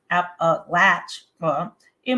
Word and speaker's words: Appalachia: big question is always how do you pronounce Appalachia well I always tell people that it depends it depends on if you're living there you're always going to say app a latch in most people who don't